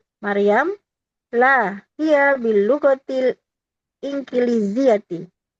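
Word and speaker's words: إنكليزيةِ: La, hiya bil lughatil inkiliziyati. Ini dibacanya ingkili apa inkili, Ustadz? Inkili, betul. Inkiliziyati. In ya. In juga boleh in. Nun zahir. Inkiliziyati.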